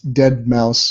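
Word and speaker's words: deadmau5: It's Dead Mouse if people don't know, but they make the S into a 5.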